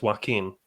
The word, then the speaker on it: Joaquin: I actually thought the Spanish pronounced it Joaquin, because Antonio Banderas says Joaquin in the Zorro movie.